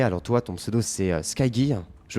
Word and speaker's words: Skygge: Alors toi, ton pseudo c'est Skygy, je prononce bien. Oui, ou Ski. Skig. Skige ou Skige. Skige en fait.